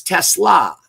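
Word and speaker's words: TeSlaa: I guess uh that it is Tesla.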